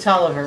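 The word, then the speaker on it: Taliaferro: at Pellifer Hall, and we were discussing the, Talifero. right, whatever it was called. That was right after the Skinner, Pronounce right? it Tolliver.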